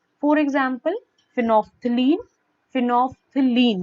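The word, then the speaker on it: phenolphthalein: फिनोफ्थिलीन, मैं दोबारा से आपको इसको प्रोनाउंसिएशन बता देती हूँ।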